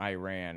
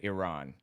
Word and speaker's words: Iran: says that Iran or Iran are proper pronunciations, either one. It looks like Iranians pronounce it Iran. So that's a correct way, but Iran is an Anglicization common in American English.